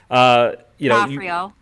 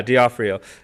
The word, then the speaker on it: D'Onofrio: D'Onofrio. Yeah, D'Onofrio.